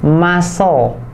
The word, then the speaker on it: muscle: Nah itu C-nya nggak dibaca muscle, tapi C-nya disilentkan jadi muscle. Alright, muscle. Wih, keren banget kayak Deddy Kobuser gue ya. Oke, jadi bacanya muscle bukan muscle.